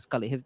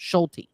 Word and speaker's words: Schulte: So they got rid of him and they put I'm sorry, not Scully. His name is pronounced Schulte.